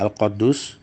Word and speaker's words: Al-Quddus: Al-Quddus, ada juga yang membacanya Al-Quddus, merupakan kata yang mengandung makna kesucian.